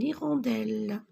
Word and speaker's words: hirondelle: une limace et ici nous avons une hirondelle y le h ne se prononcent pas ils rentrent d'elles regardez